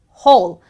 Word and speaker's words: whole: And finally, you have one word which is very confusing as whole. In this word, this is one of the exceptional words where you let go of the W, but just say whole.